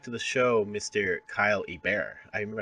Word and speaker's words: Hebert: Kyle a bear is a bear awesome Louisiana French thing our our intro guy